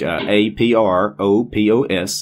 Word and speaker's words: apropos: Apropos. As it's spelled commonly here in the English language, A-P-R-O-P-O-S, apropos. And then type whatever you want to search for.